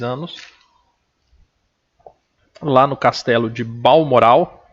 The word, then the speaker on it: Balmoral: Lá no castelo de Balmoral, é assim que pronuncia.